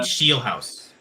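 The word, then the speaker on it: Scheelhaase: Uh I can't even pronounce. It's Nate Shieldhouse.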